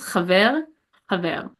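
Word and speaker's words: חבר: Chaver, chaver. And that means friend. And ein, ein. That means I. Ein, ein. So the second time I was pronouncing them like properly, like with the glottal pronunciation.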